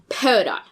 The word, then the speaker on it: Peridot: Anyway, I was trying to say, the gemstone, Peridot. That's how it's called in Steven Universe, and that is an accurate pronunciation of it. I will say that. One of my friends will correct me saying Peridot, which is apparently the French pronunciation of it.